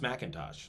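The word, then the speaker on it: M'Intosh: a fellow named uh it's pronounced macintosh so the macintosh apples is it's a but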